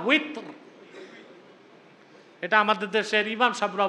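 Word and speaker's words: وتر: তো উচ্চারণটা কি হবে? উইতর। কয় রাকাত পড়েন? এই যে 3 রাকাত বেতের পড়েন, 3 রাকাত পড়া নীতি হিসেবে সুন্নাত, হুকুম হিসেবে ওয়াজিব।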